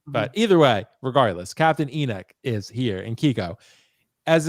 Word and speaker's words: Enoch: What's not trash, Natalie, is Captain Enoch. And Enoch is the correct pronunciation according to Thrawn himself. So, I know people say Enoch, but Thrawn said Enoch.